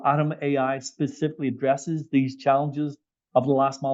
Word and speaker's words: Atom.ai: So we understand that you use, if I pronounce it right, is it Atom.ai? Atom.ai.